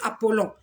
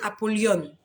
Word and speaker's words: Apollyon: Moi, j'avais entendu Apollon. Mais il m'a dit, c'est pas Apollon, c'est Apollyon.